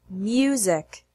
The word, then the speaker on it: music: beyond Canyon human music the words use unit uniform human and music are interesting because there's no y in the written form but the pronunciation includes an invisible Y sound before the U for example don't pronounce it who's the correct way is use don't pronounce it music the correct way is music here are some more